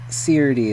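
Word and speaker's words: Serde: It's probably SERDI because serialization and deserialization. So SERDI is definitely the right way to pronounce that.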